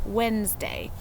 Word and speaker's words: Wednesday: And today I can't wait to share with you why it is spelled Wednesday, even if we pronounce it Wednesday.